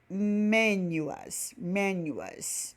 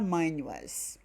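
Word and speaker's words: minus: O sinal de menos, lá quando a gente vai usar 4 menos 2 igual a 2, o menos é menuas, tá? Muitos falam manuas. A pronúncia pode até variar, tá?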